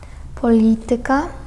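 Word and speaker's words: polityka: Насправді там акцент у цих наголос у цих словах вони у більшості грецького походження падає на третю від кінця. Якщо рахувати склади, то на третій склад від кінця падає.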